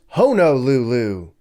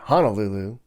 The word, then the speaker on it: Honolulu: on me and say it's pronounced honol Lulu not Honolulu well Honolulu sounds lame